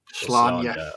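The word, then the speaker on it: Slaanesh: I think how's it pronounced? Is it Slania? Slania. Yeah. Slania. But 14-year-old Martin said Slain.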